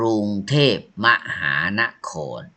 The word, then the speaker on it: กรุงเทพฯ: Here are the fisherman fisherman village กรุงเทพฯ อ่าน ว่า กรุงเทพ มหานคร กรุงเทพฯ is a short word. You put this symbol ไป ยาน น้อย When you say you say กรุงเทพฯ มหานคร กรุงเทพฯ มหามหา meanบ นคร